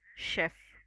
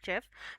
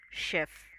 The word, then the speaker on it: chef: It's pronounced as chef. Okay, many times I have seen people pronouncing it in a wrong way by saying chef, because हम ch का usually ch का pronunciation